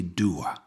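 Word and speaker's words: Dubhadh: Enfin, son nom irlandais est prononcé Dua, ce qui signifie obscurité.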